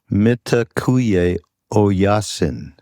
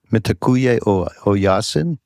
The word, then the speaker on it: Mitakuye Oyasin: Mitakuye Oyasin. Mitakuye Oyasin? Are you picking up Oh, on that? Yasin is correct.